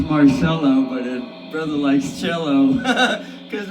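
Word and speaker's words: Marcello: Brother's been watching a lot of Mar watch watching Rob Marello. It's pronounced Marcelo, but brother likes cello cuz brother's purely classically trained and and blues jazz trained too.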